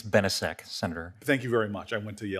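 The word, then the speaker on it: Benisek: brought a lawsuit, and if I pronounce this right, Benziak versus Lamone. I think it's Benesek, Senator.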